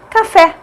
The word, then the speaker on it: café: Olha só a palavra café. Café. Fé é a mais forte, é a última sílaba, a última é a tônica, portanto é uma oxítona.